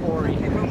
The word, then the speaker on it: Oury: Well, let's pronounce it Ori. Okay, we're with Jacob Oury.